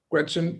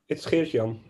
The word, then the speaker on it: Geert-Jan: Gretchen, it's Gretchen, right? How do you pronounce that? It's Geert-Jan. Geert-Jan, okay.